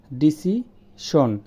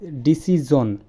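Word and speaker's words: decision: আমরা বলি ডিসিশন, এটা হচ্ছে ডিসিজন।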